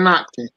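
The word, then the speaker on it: Ottke: Sven Otke.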